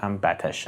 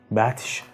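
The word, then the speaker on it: بطش: "Goft: az batsh-e ou hamchonān imen nistam" you can pronounce it "batsh" or "batash" however, "batsh" is more accurate "batsh" means to attack,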